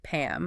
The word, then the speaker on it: Pam: Contrast that with the common name Pam, lips closed, Pam.